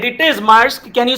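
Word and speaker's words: Maersk: the company must must that's right it is mask can you spell that because the spelling is tricky extra points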